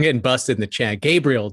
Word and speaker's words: Gabriel: busted in the chat gabriel davis not gabrielle that's fine makes sense